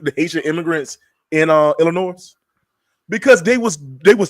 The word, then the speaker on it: Illinois: because I love you I'mma ask you to never pronounce the s in Illinois again that's it go ahead